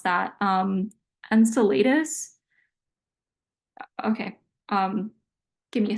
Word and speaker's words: Enceladus: to pronounce that um Enceladus okay um give me a second I'm going to search up how to say it okay according to Google it's Enceladus like this Enceladus okay encel The Rock reaches